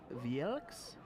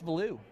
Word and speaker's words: Valou: Serge's last name is easy for me because I know it's a French last name, so I can just say Valou.